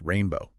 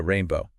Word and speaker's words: Rayne Beau: uh right oh and speaking of names rainbow it's actually pronounced rainbow oh really I didn't realize that yeah rainbow which is you know interesting